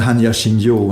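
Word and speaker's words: 般若心経: And if you want to, so we're talking about Buddhism, in the Hanya Shinryo, that's how you say it in Soto Zen, Japanese Zen, or the Heart Sutra,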